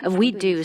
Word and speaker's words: WEDU: out up until today its acre name is w-e-d-u and the pronunciation we do sounds like we could do it so it